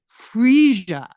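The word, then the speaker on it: Phryge: No, this thing is called a freesia. And I know how to pronounce it because I heard them talking about it on the Today Show.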